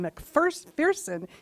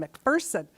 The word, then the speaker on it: McPherson: It's not John McPherson, it's John McPherson.